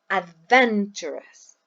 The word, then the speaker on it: adventurous: This marks the syllable where this word is stressed. For example, we say adventurous. We don't say adventurous or adventurous. We say adventurous. The second syllable.